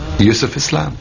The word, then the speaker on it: Yusuf Islam: He said, can't you use the Arabic pronunciation? I said, yeah, why not? So, Yusuf Islam.